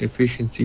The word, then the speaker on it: efficiency: You might have done a bit of a and I would do more of a F. So even though you see the letter I here, think of it as so like efficiency, something like that.